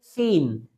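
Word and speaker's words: scene: जैसे एस सी इ एन ई। यहां पर आप ध्यान दें तो एस सी एक साथ मिला है। इसलिए आपको सी लेटर ये साइलेंट रखना है। तो इसको हम क्या रीड करेंगे? सीन।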